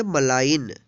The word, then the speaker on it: malign: आगे देखेंगे MALIGN, इसको पढ़ेंगे मलाइन। मलाइन मीन्स होता है बदनाम करना। यहाँ पे देखिए एन, एन से पहले जी है तो जी साइलेंट है।